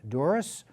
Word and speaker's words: Dzuris: I'm Sam Chase, your host, and with us this evening is Dzuris, who is Chelmsford's Town Clerk. And I'm going to ask you, did I pronounce your name correctly?